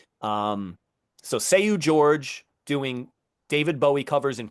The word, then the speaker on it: Jorge: It is spelled Seu, and then his last name is Jorge, like Jorge, but I Okay. believe George. Um, so Seu George doing David Bowie covers